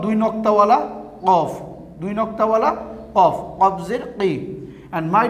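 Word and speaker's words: ق: one Qaf Zir Qi, Qaf Zir Qi, not Kaf. Okay, this one is Qaf. Now this one is, and this one is called Dui Noktawala Qaf, Dui Noktawala Qaf, Qaf Zir Qi.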